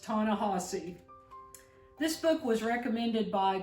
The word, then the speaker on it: Ta-Nehisi: And yes, it's pronounced Ta-Nehisi.